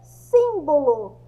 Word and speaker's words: símbolo: Porque tem acento no sim. Por ter acento, é considerada a sílaba mais forte.